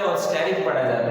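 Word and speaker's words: asterisk: को हम कहते हैं स्टेरिक, ESTERIC, स्टेरिक इसे कहते हैं। तो आमतौर पर ई साइलेंट पढ़ा जाता है और स्टेरिक पढ़ा जाता है।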